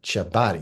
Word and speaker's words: Ciabotti: I'm thrilled to bring on a visionary leader within our industry, Seth Ciabotti, but I call him Ciabotti because that's how you say it, true Italian.